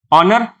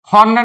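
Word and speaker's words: honour: जैसे एग्जांपल ए या एन यह मैंने लिखा क्या प्रोनंसिएट करते हैं इसको? हॉर्नर या ऑनर? ऑनर अ से स्टार्ट हो रहा है। हॉर्नर नहीं बोलते इसको। क्या बोलते हैं? ऑनर बोलते हैं।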